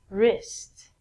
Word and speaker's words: wrist: rest of your arm so the W again is silent okay moving right along